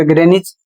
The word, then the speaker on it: Greenwich: यदि टाउन और स्थान का नाम होता है तो वहां कहीं कहीं पर W साइलेंट हो जाता है।